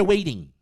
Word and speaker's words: waiting: Waiting. Waiting. Esse T aqui tem viram um som de r igual do o T da água, né? Water. Waiting.